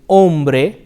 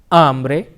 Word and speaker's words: hombre: with the letter H however the H is silent it is Ola hombre hombre okay very nice